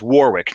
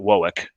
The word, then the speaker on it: Warwick: north of H Warwick then it's Warwick New York not wck New York because it's wck it's wck Rhode Island wck yeah so but in New York it's Warwick you got a really over pronounce it Warwick um like two separate words war and Wick yes and not a